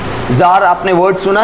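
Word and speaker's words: czar: बाहर के राजाओं को किंग की जगह जार भी बोला जाता है और इसका प्रोनाउंसिएशन है जार, जेड, ठीक है।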